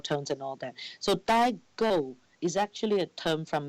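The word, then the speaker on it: daigou: So the other thing you've mentioned is a term called Daigao. Have I pronounced that right?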